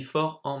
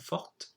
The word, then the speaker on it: forte: Now you would have spotted the difference between fort and forte. We add an E, we change the pronunciation.